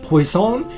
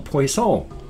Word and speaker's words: poisson: So The word poison and the word fish, poisson and poison, are both spelled exactly the same, but they're pronounced differently, so you have to figure it out by context.